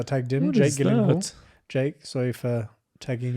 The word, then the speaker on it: Gyllenhaal: The name Gyllenhaal, I never know if I'm pronouncing it correctly. It is a Swedish name, is it not? It is a Swedish Oh, I think neither of us. Gyllenhaal. The only two places that is pronounced correctly, my last name like you did just now, is in Sweden and in IKEA. I really have to say, that is actually the pronunciation of my last name.